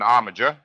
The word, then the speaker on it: armiger: An arager, rhymes with integer, is anyone entitled to a coat of arms.